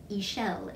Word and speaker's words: Ixchel: Ixchel is how they're saying it. So yeah, it isn't spelled like that at all. You wouldn't know that from looking at it, but Ixchel, I can't wait to make it.